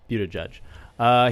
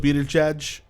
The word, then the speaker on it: Buttigieg: I think that's how I say it, Pete Buttigieg.